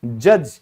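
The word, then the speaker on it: judge: न्यायाधीश, जज, यहां भी डी साइलेंट है।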